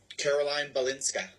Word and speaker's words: Caroline Balinska: And then pronunciation of your name? Caroline Bolinska. Caroline. Yes. Line. Okay. Caroline Balinska. Perfect.